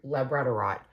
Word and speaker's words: labradorite: Labradorite. Labradorite. I think that's how you say it. I always see it in my head as Labrador. Right. But that's obviously not it at all.